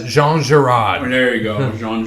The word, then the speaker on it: Jean Girard: Yeah, Pierre. Oh, it's Jean Girard.